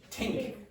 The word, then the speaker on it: think: So, for example, in Ireland, how would you pronounce that word? Think. Tink, tink, tink.